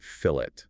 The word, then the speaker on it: fillet: Remember pronounce it fillet.